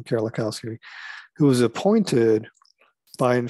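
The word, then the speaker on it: Kerlikowske: And this was a person, Gil Kerlikowski, that's how you pronounce his name, Kerlikowski, who was appointed by, in fact, Obama.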